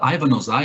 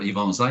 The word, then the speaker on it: Ivan Ozai: Our guest today is professor uh Ivan Ozai or Ivan Ozai if we we employ the Brazilian pronunciation.